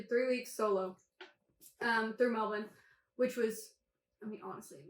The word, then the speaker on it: Melbourne: like how you say that with an accent Melbourne yeah it's how it's supposed to be pronounced actually yeah it's Melbourne cuz Americans say Melbourne Melbourne and that that's that's how I know